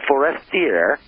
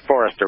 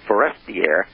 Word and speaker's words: Forestier: And according to René Le Forestier, yeah, let me pronounce this right, Le Forestier, T-I-E-R, not Forester, but Forestier, in his book, this